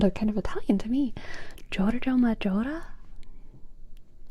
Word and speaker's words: Giorgio Maggiore: Giorgio Maggiore? Giorgio Maggiore. Giorgio Maggiore.